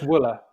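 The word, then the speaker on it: Wuille: his name Peter suppose I know it's Willa Willa Willa okay like voila voila voila with her W that's my understanding but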